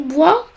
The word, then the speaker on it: bois: Dans le nom bois, le S ne se prononce pas, mais se prononce dans les mots de la même famille, comme boiser et boiserie.